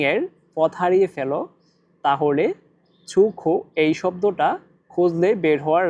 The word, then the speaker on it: 出口: এখানে দেখেন ছুখো ছো এই শব্দটিতে চাইনিজের এক নাম্বার টোন ব্যবহার করা হয়েছে। আর এক নাম্বার টোন উচ্চারণের নিয়ম হচ্ছে সোজা লম্বাভাবে বলতে হয়। ছু তারপরে দেখেন খ এটা অনেকটা মুখের মত গোল আকৃতি খ এটাতে চাইনিজের তিন নাম্বার টোন ব্যবহার করা হয়েছে আর তিন নাম্বার টোন উচ্চারণের নিয়ম হচ্ছে উপর থেকে নিচে আবার নিচ থেকে উপরে খো ছুখ ছোখ ছোখ